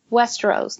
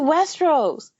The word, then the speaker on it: Westeros: No, we're going to, and he pronounces it Westeros, not Westeros.